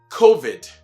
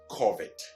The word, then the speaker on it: COVID: So it is COVID and not COVID, right?